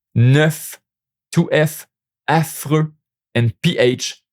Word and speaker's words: neuf: Watch out for neuf and chef. The final V is pronounced, which isn't always the case with French consonant.